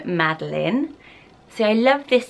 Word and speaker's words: Madeline: put on screen, and it is Madeline, but lots of people also say Madeline. I think it is a French way of saying it's often Madeline as well, no matter how you spell it. So if you do love this name, just be aware that this spelling is Madeline.